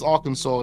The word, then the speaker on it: Arkansas: police in Arkansas and it is Arkansas that's how you pronounce that is it but they won't